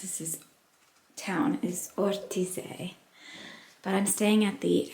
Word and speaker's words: Ortisei: I think how you pronounce this town is Ortize, but I'm staying at the Alpine Garden.